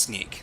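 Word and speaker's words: Snyk: So, Sneak says uh so it's pronounced Sneak.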